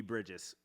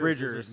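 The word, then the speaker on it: Bridgers: the pajamas band episode i definitely said phoebe bridges wha what is it oh bridget bridger's yes definitely an easy one to do that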